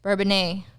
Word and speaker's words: Bourbonnais: Bourbonnais. Okay, why does that, like, when I look at the word, it seems like I can't pronounce it. But when you say it, it's like, oh, it's easy. Bourbonnais.